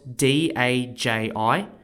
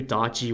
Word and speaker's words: Daji: the most evil woman in Chinese history spelled d-a-j-i is an example of where a real life person has been exaggerated in history through stories myths and legends in order to understand who darji was we need to paint the world she